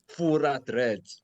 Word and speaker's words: Furah Dread: My name is Furah Dread.